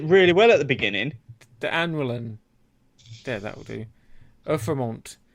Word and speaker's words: D'Annoeulin: From the Brasserie D'Annoeulin. You pronounced it really well at the beginning. D'Annoeulin.